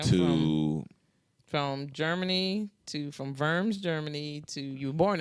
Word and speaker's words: Worms: I I now know vers Germany it's spelled WR Ms but it's vers w r Ms W o r Ms like worms but they pronounce it vers vers vers vers ger